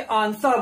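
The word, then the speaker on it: answer: चाहिए आगे बढ़ा के आंसर बोलते हैं उसे आंसर, या अगर हम इंडियन इंग्लिश में बात करें तो हम आंसर भी बोल सकते हैं, परंतु यहां पर जो डब्ल्यू है वो साइलेंट लेटर है और आंसर का मतलब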